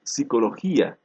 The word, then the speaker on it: psicología: neumático no lo pronunciamos la primera consonante pierde su valor fonológico igual ocurre por ejemplo en psicología su valor etimológico no